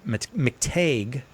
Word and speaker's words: McTeigue: And Father McTague, whose name I pronounced it right that time, Nick, right?